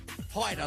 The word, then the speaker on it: Hyder: Penny Blackburn, Caitlin Baird, Headley, Davenport, Stevenson, Gerard, and Iris Hyder is how you say it. Hyder, like Ryder. She's out in front.